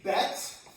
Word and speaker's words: bet: here in the green, I've written bet. B E T as the name of the letter. Underline the B so you know it makes a B a B sound.